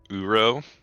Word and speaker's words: Oro: Uro. Oro. It was described to Oro. me as pronouncing Ouroboros, but just don't say the Boros.